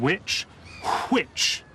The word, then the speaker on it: which: He begins it with an H. This is an H sound, and this is a W sound. And that's because Harriot pronounced the word which.